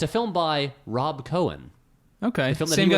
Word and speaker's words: Cohen: Yes, a guy named Joel Cohen, who is Yeah. clearly not... okay, the Coen brothers, their name is spelled C-O-E-N. This is Joel Cohen, C-O-H-E-N. Oh, Cohen.